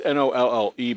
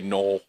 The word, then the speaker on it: Nolle: We misspelled it on purpose because it's Nolle, but everybody'd say Knoll. So, so that's like so we put Nolly so people say it correctly.